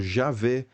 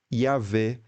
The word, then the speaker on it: Yahweh: Mas, apesar disso, ainda existem várias formas até hoje conhecidas, né, para pronunciar esse nome. Então, por exemplo, Javé, Yavé, Yahweh, Jeová, Yahô, Yahu.